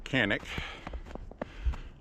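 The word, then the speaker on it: Canik: a conic or a canic supposed to be pronounced Chic but the rep from the company says the American pronunciation of canic is acceptable anyway tp9 sa it's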